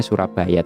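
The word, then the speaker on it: Soerabaja: dulu Surabaya ya gan kalo ejaan dulu sowera bajaj itu bacanya Surabaya temen-temen Nah itu dan kita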